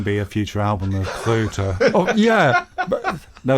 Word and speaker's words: Kröter: So, but the Goethe thing was just to help to pronounce Kröter. Goethe.